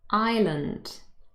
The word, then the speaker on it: island: y e and also island i s and s is silent here it just becomes part